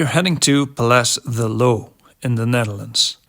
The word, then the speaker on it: Loo: heading to Pal the low in the Netherlands you spell it like Lou but it's pronounced like low if you want to sound stupid just say Lou our adventure begins in